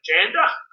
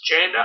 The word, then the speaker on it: Djanda: of that and just keep the name Djanda without the D, because it's a silent D, which I've pronounced incorrectly a fair few times in my videos. So it's a silent D, it's Djanda, and that was my